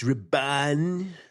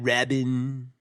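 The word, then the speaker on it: Rabban: It's Raban. Yeah, sorry. Who's playing thank you, Ben. One of the Dune super fanboy nerds. Go ahead. It's Raban, not Rabin.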